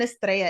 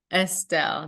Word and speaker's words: Estelle: no rra in there I've been saying Estrella is it a Phil Estelle yes and I didn't correct